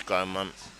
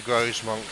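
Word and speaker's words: Grosmont: It's Gromont. Gromont, Gromont, Gromont. Okay, we're going with Gromont. But yeah, no, I was firmly in the Grosemont camp.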